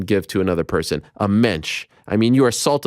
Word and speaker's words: Mensch: Jewish person can give to another person a mensch I mean you are salt of the earth